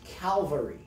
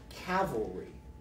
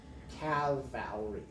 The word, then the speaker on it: cavalry: content out there but it is not pronounced calvary or cal valerie calvary is like where jesus died on the cross or something it's pronounced cavalry cavalry but so anyway the